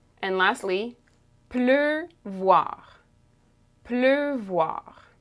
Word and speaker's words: pleuvoir: Two syllables. And lastly, pleuvoir.